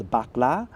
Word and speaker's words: bakla: So I grew up in a large Filipino family where the term bakla, pronounced as bakla, was often tossed around like colonial football.